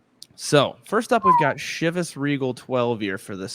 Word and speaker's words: Chivas: well fellow whiskey noobs I thought it was chos and I thought I was trying to be creative you know the O like chos like yeah know okay